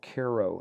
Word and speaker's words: Cairo: in a little town called Koo Illinois it's a it's spelled like Cairo Egypt in the right bottom